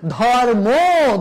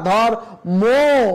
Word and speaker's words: ধর্ম: ধর্ম, ধর্ম ম বলা যাবে না, ধর্ম, ওকার উচ্চারিত হবে।